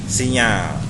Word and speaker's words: signal: ini untuk mengelola signal tulisannya signal tapi dibacanya sinyal ya kemudian yang bagian